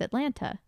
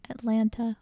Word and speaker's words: Atlanta: are currently in what chris makes fun of the way that i say atlanta it's funny because i i was not the first person to bring this up who brought it up first your mom my mother what did she say she said say that again anyway atlanta just say i just pronounced both of the t's atlanta say that one city